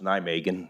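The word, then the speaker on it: Nijmegen: and i am developing it's pronounced nigh megan now megan plaza those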